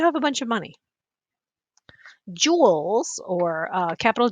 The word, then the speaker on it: joule: Joules, or capital J, they're the dollars of energy. Uh, this is James Joule. It sounds like jewel, but it's spelled like this, joule.